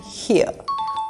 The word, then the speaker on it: here: The R is not pronounced in these words. These are where and here.